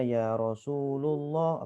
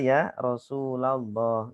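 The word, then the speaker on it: يا رسول الله: Rasulallah salaamun alayk ya Jadi kalau ada orang bacanya yarosululoh berarti dia enggak enggak tahu yang bener Ya Rasulallah Ya Habiballah itu ini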